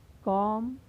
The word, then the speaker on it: comb: पहले आया है तो यहाँ पर बी का उच्चारण नहीं होगा, यानी इसे क्या पढ़ा जाएगा? कॉम, थॉम, डेट, डाउट, लैम, डम।